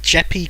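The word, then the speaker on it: Jeppe: It's Jeppy Carlson, that's the name. Nice. It's probably not Jeppy, it's probably Jep.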